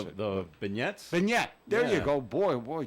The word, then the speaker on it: beignet: thing but I don't even know how to pronounce it the beignet beignet there you go boy boy Joe you're pretty